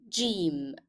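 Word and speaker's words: جيم: It sounds like J, J. I want you to notice that in the pronunciation of the letter, you can hear a hidden D, like in jar in English, jar, jam.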